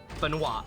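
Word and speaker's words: Benoit: sure of the pronunciation not sure if it's Ben Beno or benoi but it's the it's the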